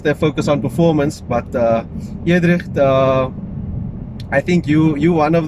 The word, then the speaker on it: Eudricht: Look, there's an Afrikaans way of saying my name, which I teach the guys. It's Eudricht. Eudricht, okay, but nice. Then when I tell them how to pronounce it, I say use the letter E and the number 3. It says Eudricht. Eudricht.